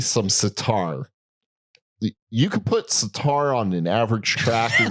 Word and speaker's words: sitar: You could put sitar on an average track. I love the way you're pronouncing that. And it'll sitar. It's been a long day. You're pronouncing it like guitar, which I like better.